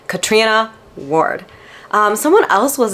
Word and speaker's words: Catriona: there was Katrina Ward which I always thought it was catriona Ward but she's like yeah everyone mispronounces my name is Katrina Ward um someone else